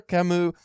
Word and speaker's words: Camus: it up Albert Camu always say Albert Alber Camu that video video we watched that guy's pronunciation was on point like the character R